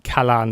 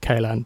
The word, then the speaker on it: Kalan: By the way, that might been Kalan, not Kalan, but maybe someone in the comments can put me right.